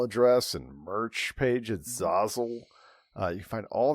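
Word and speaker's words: Zazzle: and merch page at Zazle. Uh, you can find all that uh on the show notes. Are we pronouncing it Zazle now? Not Zassle.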